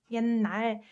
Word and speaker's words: 옛날: 옛날. And this one, ut softens to n, so it's pronounced like 옛날, 옛날, right?